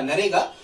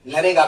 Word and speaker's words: NREGA: इसको पहले नरेगा कहा जाता था, देखो यहां स्पेलिंग लिखी है NREGA, पहले से कहा जाता था नरेगा।